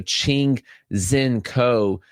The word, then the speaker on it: Ching-Hsien Ko: So, Ching Zen Co is the name that you're looking at there.